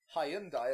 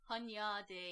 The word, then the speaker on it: Hunyadi: Hyundai, as Tobias wants to pronounce it, I love their cars. Hunyadi. Hunyadi. which sounds like you've misspelt Hyundai.